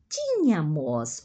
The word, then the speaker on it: tínhamos: ou você tinha nós tínhamos ó a sílaba tônica é sempre o nós e nenhuma mais dos verbos e acentuado só nós como Regra geral nós tínhamos eles ela